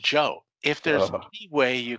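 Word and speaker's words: Geoux: a problem one example g-e-o-u-x pronounced joe if there's any way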